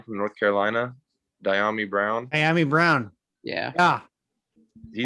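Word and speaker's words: Dyami Brown: But how do you pronounce the kid's name from North Carolina? Diami Brown.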